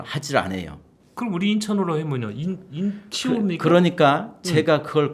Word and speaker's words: 인천: 인천 이렇게 발음해요. 네. 인찬 이렇게 발음하는 사람은 없고 인천 그러니까 외려 잘 됐어요.